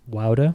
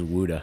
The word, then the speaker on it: Wouda: I'm kidding it's actually a 519 number but anyway no yeah uh just my name Wilder that's how it's pronounced everybody messes that one up that's fine I always thought it was Wuda yeah everybody does I